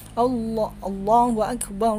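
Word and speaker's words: الله أكبر: lafaz Allahuakbar Allahuakbar Allahuakbar banyak tidak boleh dipanjangkan baru allahuakbar jadi harus pendek Allohuakbar Allohuakbar kemudian asyhadualla nanya panjang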